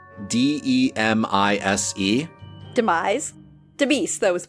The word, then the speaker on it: Demise: And it is signed, spelled D-E-M-I-S-E. Demise. Demise, that was the pronunciation we know.